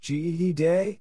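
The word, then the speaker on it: Fèt Gede: fate g'day fetch heed or simply g'day pronounced GED day is a voto or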